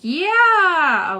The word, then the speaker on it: Yeeauh: Tammy says it's pronounced like yeah.